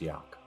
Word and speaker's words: Jack: this is wind and that is Jack apologies for stepping on your introduction pronounced Yak it's not I am